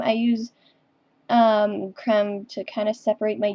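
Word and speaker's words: crème: It's actually creme, and I go by creme, not cream, because those are two completely different things.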